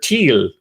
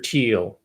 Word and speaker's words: Thiel: just made that up his name's peter thiel or thiel if you will i'm giving him the german pronunciation teal peter thiel and the